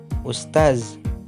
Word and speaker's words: ustaz: Seharusnya diucapkan ustaz karena tidak pakai D.